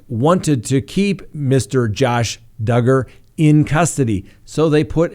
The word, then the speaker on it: Duggar: you know now remember josh duggar that's right rhymes with hugger he was released yesterday